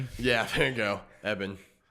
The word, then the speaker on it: Ebon: And we've got Evan Moss Backrack.